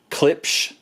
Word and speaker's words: Klipsch: And then we got this 5-piece Klipsch, is how it's pronounced, I guess.